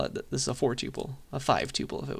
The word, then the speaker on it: tuple: Tuple pronounce Tuple or alternatively some people say tupple tupple I say it this way that's the way I learned it that's the way my computer science professor said it uh so pick pick